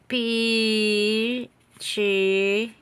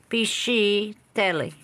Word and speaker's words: Piscitelli: Piscitelli. That, like pesci, only pisci. Piscitelli. S-C means sh sound. C-I is ch. Okay? C-H is ka.